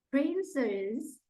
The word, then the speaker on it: princess: And ini and kemudian di princess penekannya di P ya.